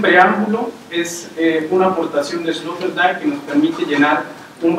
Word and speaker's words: Sloterdijk: Con eso termino, y es un preámbulo, es una aportación de Sloterdijk que nos permite llenar un vacío en la